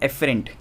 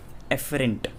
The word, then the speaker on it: afferent: एक और चीज़ है, सेंसरी को आप और क्या बोल सकते हो, एफरेंट, ठीक है। स्पेलिंग दिख रही है यहाँ पे लिख रखी है मैंने, ठीक है, AFFERENT, एफरेंट।